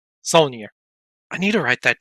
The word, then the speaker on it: Saulnier: Moraine Saline? You say that, you know French. Not real, it's Solnier. Saulnier.